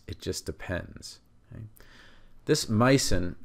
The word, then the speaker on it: -mycin: This micin, which many people pronounce as myosin, they insert a vowel in there.